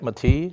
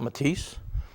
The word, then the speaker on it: Mati: is Greg mati uh he'll be happy that I pronounce his name right mati not matis he always used to get on me about that um the truck Lieutenant